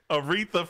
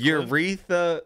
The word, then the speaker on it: Aretha: what'd i say urethra aretha franklin that's what i said wreath reference uretha no i said it right you're read that frankie it's aretha that's what i said aretha on a dmca